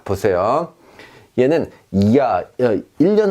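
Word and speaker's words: Jahr: 없는 스펠링처럼 무시해버리는 겁니다. 자, 보세요. 얘는 이야, 1년 할 때 연을 의미합니다.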